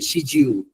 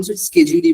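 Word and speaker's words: schedule: আবার অনেকে শিডিউল বলে, শিডিউল, এখন স্কেজুলই বলেন, এর থেকে ভালো।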